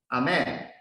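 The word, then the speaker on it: אמן: Amen. The word for truth also started with Aleph. It pronounced Amat, means covenant of a mother.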